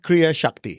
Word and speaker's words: Kriya Shakti: Am I pronouncing that right? Yeah, Kriya Shakti, yes.